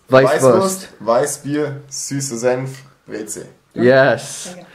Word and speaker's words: Weißwurst: It's Weißwurst.